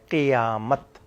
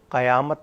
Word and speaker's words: قیامت: تلفظ بھی نہ بدلے۔ قیامت اکثر لوگ قاف کے زبر سے پڑھتے ہیں، قاف کا زیر ہے، قیامت، قیامت نہیں ہے، قیامت ہے، جہاں سب نے کھڑے